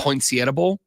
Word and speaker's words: Poinsettia Bowl: That's how I've heard it said, without the accent. Poinsettia, not the Sietta thing.